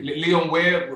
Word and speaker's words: Leon Ware: Pronounced Leon it Ware, right. thank you. Leon Ware, Rocking You Eternally, Bar-Kays, Open Up Your Heart,